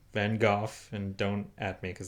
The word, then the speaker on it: van Gogh: it's about mitts in Van Gogh it is pronounced van Gogh and don't at me because that's actually what's